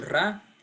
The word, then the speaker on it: Ra: con el Dios sol ra ese Dios Amón ra pronunciado re se hizo conocido en